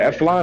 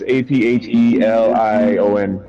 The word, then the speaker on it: Aphelion: Is it Eflon or Aphelion? Oh, I have no idea. How do I see where it is? It's Aphelion.